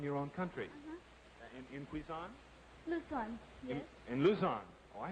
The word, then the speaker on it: Luzon: Luzon, yes. In Luzon. Oh, I have Quezon. Luzon is pronounced.